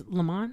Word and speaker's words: Lamman: It's Lamman.